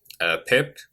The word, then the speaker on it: pip: to install pip or pipe. Some people call it pipe, some people call it pip. I'm not really sure. But it's an abbreviation anyway, so you can just pronounce it the way you want.